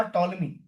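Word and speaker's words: Ptolemy: आपने जरूर नाम सुना होगा टॉलमी। टॉलमी टी साइलेंट है।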